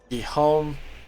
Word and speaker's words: Guillaume: Will is a plant, so Guillaume. Okay. Good. Not G. Good.